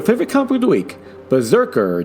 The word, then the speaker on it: BRZRKR: don't really give the immortal's name, but and Berserker, by the way, it's spelled without any of the E's.